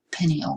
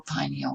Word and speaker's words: pineal: another little gland called the pineal gland or pineal gland either pronunciation has been accepted i want to make